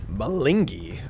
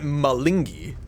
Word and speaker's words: Malingi: Do you remember Malinki? Or the sports game? Are you still you? Malingi. Okay, that's how you say it. Now, if I will I remember it? Malingi.